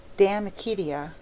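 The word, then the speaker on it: De Amicitia: We've finished Libby and Denut and now engaged with Damakitia, pronounced Damakitia.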